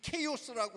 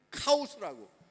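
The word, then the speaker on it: chaos: 이 케이오스라고 하는 단어가, 우리가 흔히 카오스라고 읽는 이 단어가 어떤 단어입니까?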